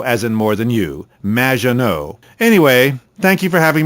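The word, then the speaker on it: Maginot: have mispronounced my name it's which rhymes with badge uh as in duh and no as in more than you Maggiano anyway thank you for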